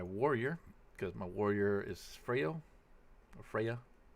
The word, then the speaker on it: Freya: This time I'm going to load up my warrior, because my warrior is Freyo, or Freya. It's an A, but it's pronounced O, so Freyo, but yeah, alright.